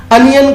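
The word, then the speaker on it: onion: अनियन का जो pronunciation है, तो इस वर्ड के प्रोनाउंसिएशन में हम ओ को आ पढ़ते हैं, तो हम यहाँ पर अनियन पढ़ते हैं और हमारा वर्ड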